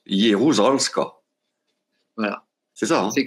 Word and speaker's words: Jeruzalska: Et ça se prononce Jeruzalska.